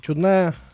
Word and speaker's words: чудная: У нас чудная, не московская еда. Да, это еда, которая мне интересно готовить. Чудная именно на этот слог ударения? Да. Или чудная, может быть? Нет, она чудная, чудная еда.